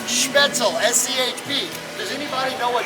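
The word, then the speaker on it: Spoetzl: coming to the k schmetzel brewery and it's pronounced schmetzel s-c-h-p does anybody know what schmitzel means don't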